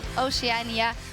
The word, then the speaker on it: Oceania: next 5 versus 5 between Southeast Asia and Oceania. What's the right way to pronounce it, Spawn?